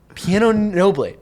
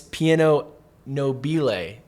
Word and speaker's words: piano nobile: I was literally Googling piano noble, and I got nothing. I got pianos, literal pianos, and it's piano nobile. And we were probably just saying it wrong.